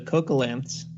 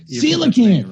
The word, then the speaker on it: coelacanth: Oh, there's did eventually find the coelacanths. I'm probably mispronouncing that. Coelacanth, right? Coelacanth. Yeah. I was like coelacanth, and then I was like, oh, it must be coelacanth.